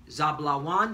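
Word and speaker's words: זְבוּלֻן: Zebulon are you so-called Guatemalans to Panamanians. Zablawan is how you say it in the Hebrew and means dwelling.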